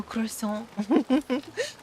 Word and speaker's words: croissant: Oh, croissant. Croissant. Heavy on the K.